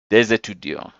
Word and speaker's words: des étudiants: starting with a vowel, we pronounce this S like it's a Z just for the beauty of it. Des étudiants.